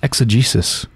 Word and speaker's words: exegesis: new eggs what's that word mean exegesis brenly's pronounced exegesis it's a critical explanation or interpretation of a